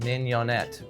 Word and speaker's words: mignonette: so first thing about minionette is how to pronounce it mignonette mignon like petite in french and it adds